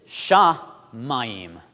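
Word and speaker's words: שָׁמַיִם: hands well this is sha mayim you hear that aim sound at the end so this literally translates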